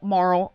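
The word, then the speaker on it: Mmarl: Marl.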